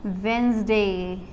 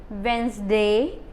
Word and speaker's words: Wednesday: third we have is wednesday okay class but this d is silent okay so we'll will when we pronunciate so how much accurate thing is so this is wednesday then we have is